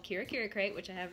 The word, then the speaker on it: Kira Kira: And she is going to share with us a special little box called Kira Kira Crate.